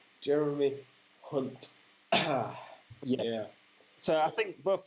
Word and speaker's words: Hunt: Got to pronounce that correctly because we're from Yorkshire and sometimes we don't pronounce our H's very well. Jeremy Hunt.